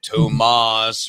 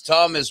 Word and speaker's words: Thomas: Was that Tomas or Thomas? But it is Thomas.